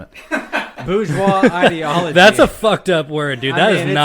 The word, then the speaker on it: bourgeois: of a tainted trend by borges bourgeois is that how you say it bourgeois god damn it bourgeois that's a [ __